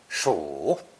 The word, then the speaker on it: 暑: It's pronounced third tone, 暑, 暑, and means the heat of summer.